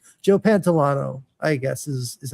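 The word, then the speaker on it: Pantoliano: Yeah, so Joe Pantalone, Joe Pantolano, I guess is how you pronounce it.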